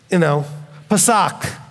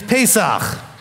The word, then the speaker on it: Pesach: I mean, Pasak, pair of socks. I don't know what they're saying. It's Pesach.